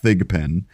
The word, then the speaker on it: Thigpen: did not mispronounce that it is thigapen she actually played the